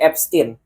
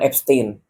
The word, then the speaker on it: Epstein: Nah, bacanya itu sebenarnya abstin bukan Abstain.